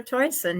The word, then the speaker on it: Toycen: Um, I need everybody to know this is, I don't know if I'm pronouncing your last name right. Toycen? Toycen? Yep, that's Okay. it. Toycen.